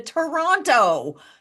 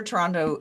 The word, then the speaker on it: Toronto: second T in ter Toronto like it was like an insult um also just cuz like if you're from Toronto like they don't pronounce that second T it's just like I'm sure Toronto is great Toronto it's